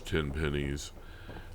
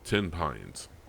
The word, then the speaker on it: Tenpines: how to pronounce uh I've heard tin Pines referred to as 10 pennies um but it's 10 Pines as in the tree I still hang to